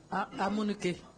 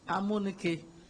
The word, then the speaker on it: Amunike: Make you pronounce the name. Amunike. Eh? Amunike.